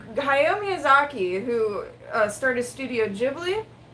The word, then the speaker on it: Ghibli: It should be Ghibli, or actually no, it should be Ghibli, but he pronounces it Ghibli, Studio Ghibli.